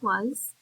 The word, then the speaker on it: was: So that's going to be a heart part of was. And then also, when you say that word, that S is kind of making a Z sound at the end of it.